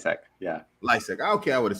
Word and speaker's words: Lisec: say that your last name like hack yeah licik okay i would have said it right nice